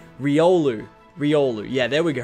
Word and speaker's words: Riolu: with the r God I keep getting his name wrong Riolu Riolu yeah there we go Riolu yeah Riolu damn I just can't wait to